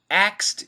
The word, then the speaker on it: asked: so my recommendation perfect pronunciation of course asked but you can mimic most americans they just say asked who asked you i